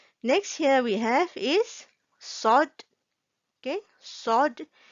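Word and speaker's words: صاد: Okay, next here we have is sod. Okay, sod. When we want to pronounce the sod, the word letter sod, and we have to make our mouth look something like this, like a fish mouth.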